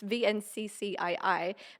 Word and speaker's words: Vnccii: It's Vnccii, but it was pronounced after Leonardo da Vinci.